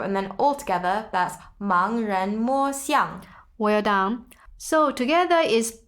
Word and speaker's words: 盲人: 盲人, so that's 盲人. Good pronunciation.